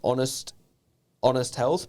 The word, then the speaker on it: Onest Health: But he also is now the owner of it's pronounced Honest Health, but it's spelt One Set Health.